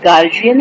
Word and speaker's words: guardian: तो प्रोनाउंसिएशन में जो है ये वर्ड गार्जियन है, और लिखने में जो ये वर्ड है ये गार्डियन है।